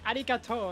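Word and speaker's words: ありがとう: He just said arigato and he put a random accent on the O. Is that what? Why did he do that? Well, let me see. What? Because it's a long vowel, that's why.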